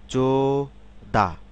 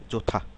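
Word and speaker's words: 좋다: উচ্চারণ হবে থম জোদা এটা আমরা যদি সিলেবেল অনুসারে উচ্চারণ করি তাহলে কি হবে জো দাদা কিন্তু আসলে কি হবে জোথা জো থা থা থা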